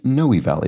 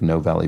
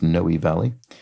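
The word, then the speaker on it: Noe Valley: neighborhood this would be noy Valley it looks like no Valley but it's pronounced noi Valley is a neighborhood in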